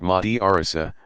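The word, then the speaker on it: madrasa: called madrassas students in a madrassa pronounced Mahdi Arzo pursue a curriculum built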